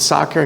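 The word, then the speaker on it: sacer: opus homo soccer and i pronounce it soccer because that's how i studied latin and their different pronunciation this to this term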